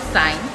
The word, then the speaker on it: sin: Let's start with sign written as sin theta. Pronounced sign.